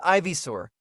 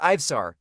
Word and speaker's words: Ivar: and fith is interrupted wait what did you just call me it's pronounced Ivar you imbecile he yells Arthur and